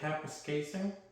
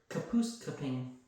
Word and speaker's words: Kapuskasing: Then he can't say Kapuskasing? No, he called it Kapuskaping.